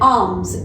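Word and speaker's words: alms: ठीक है, इन Ramzan people give charity and आर्म्स। एल जो है इसमें साइलेंट है।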